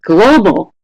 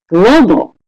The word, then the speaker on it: global: So the first one is, what is the word stress pattern of global? Global. Is it A or B? Wow, you guys are good. Global, 100%. That's right. It's da. Global, right? The first syllable is stressed more than the second syllable.